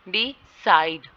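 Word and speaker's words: decide: ठीक है, डिसाइड, यहाँ पे साइड पे स्ट्रेस होगा.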